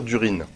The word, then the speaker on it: Durin: Il faut plutôt dire Durin. Dans la logique que Tolkien est anglais. Donc, le IN ne se prononce pas vraiment.